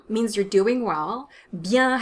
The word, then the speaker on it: bien: some options or just bien means you're doing well bien has a nasal vowel in it so you don't want to pronounce that n the sound is yeah